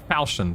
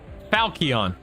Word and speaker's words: falchion: Falchion, thank you. Falchion. Oh, so 2 different ways to pronounce it.